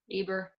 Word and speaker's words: Uber: say your name wrong how do you pronounce it aber okay great great great it's spelled UB ER and I knew I